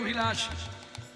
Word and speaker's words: অভিলাষ: প্রণয়ের অভিলাষ, এখানে ব উচ্চারণ হবে না, ভ উচ্চারণ হবে।